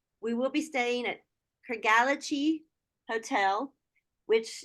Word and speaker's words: Craigellachie: pronounce that hotel? Oh, okay. Yes. Please, that's Vanessa. She's Scottish. Tell me. It's Craigellachie.